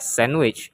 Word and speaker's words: sandwich: the letter D so the letter D can be silent in Words like sandwich and especially the letter